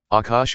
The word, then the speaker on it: Akash: Akash is pronounced Akash or Akashir.